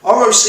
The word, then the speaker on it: ROCE: using the same example now o-r-o-c-e kind of pronounce it roce is a really great indicator to understand what